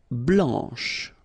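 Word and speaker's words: blanche: form here okay so here masculine BL don't pronounce the final C and then Blan okay remember when you combine this c as you get the sound blanch okay so BL blanch no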